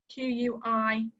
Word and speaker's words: quinoa: now we've got the quinoa q-u-i-n-o-a it's a really strange word to see um it's pronounced like a key like a house key like quinoa obviously i'm not hearing